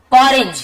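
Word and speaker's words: porridge: पॉरिज, यहां पर भी डी साइलेंट है, लिखेंगे जरूर लेकिन पॉरिज ऐसे नहीं पढ़ेंगे, पॉरिज, जा, पॉरिज यानी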